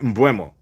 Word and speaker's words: Mbeumo: And again, uh I just watched today how to pronounce his name. It's Brian uh Bumo, right? Bumo.